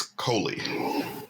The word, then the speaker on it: Coley: have uh help me with the pronunciation of your last name it's coley cool well it's a pleasure to meet you